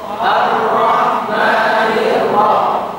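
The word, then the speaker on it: الرحمن: ro ro ro arro arro arro arro arrahmanirro arrahmanir coba yang Afal dulu arro arro Arrahman ar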